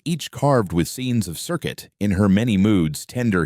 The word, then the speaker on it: Serket: Her name was Serket. You've heard it mispronounced a dozen ways in documentaries, Selket Serket, or just Scorpion Lady.